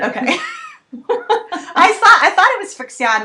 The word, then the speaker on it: FriXion: So Betz, you wanted to talk about the I think it's called Frixion, maybe it's called Friction, I don't know, pen, which I have wanted to try, and I haven't gotten one yet.